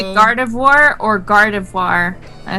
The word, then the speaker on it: Gardevoir: V O I R. Noir. Like like for example, like the word for black. Noir. Wait, wait till my guard. Yeah, Gardavoir. That's why I say Gardevoir because it follows the same principle of noir.